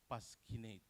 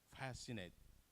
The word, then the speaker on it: fascinate: the second one any student pronounce it uh pasquinate they assume that all of uh is pronounced but this is Fascinate Fascinate and then the